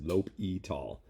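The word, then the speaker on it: L'Hôpital: knew in grad school apparently the way you say this is lope e tall l'hopital's rule anyways what l'hopital's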